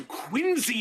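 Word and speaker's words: Quincy: oh God no no quiny is the worst because it's spelled qu I NC y that c has a z sound what other word in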